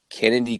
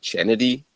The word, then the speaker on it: Chennedy: Dream the dirty a Kennedy Carter and it's spelled c h n n d y so it looks like chennedy but uh it's Carter dude I